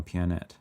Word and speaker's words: Pianet: wanted to be Planet it's pronounced like piano pianet ah micronal music comes